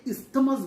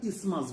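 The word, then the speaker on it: isthmus: যদিও এর স্পেলিং হচ্ছে আই এসটি এম ইউ এস। এই টিএইচটা সাইলেন্ট থাকে। তাহলে আমরা এটাকে ইসতেমাস বলবো না। আমরা কি বলব? আমরা ইসমাস বলব।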